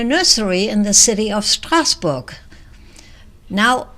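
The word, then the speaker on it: Strasbourg: in the city of Strasburg now it's stasbor pronounced and written French and unfortunately I was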